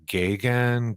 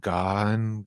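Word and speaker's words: Gaughan: G A U G H A N Gagan, gone it's I think it's like an Irish kind of one of those names like And anyways they She's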